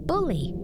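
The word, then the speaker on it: Bullie: It is Oh, the pronunciation, the spelling. It is B U L L I E. Bully.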